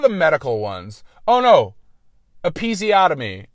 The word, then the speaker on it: episiotomy: Episiotomy. It's pronounced episiotomy, and I pronounced it episiotomy.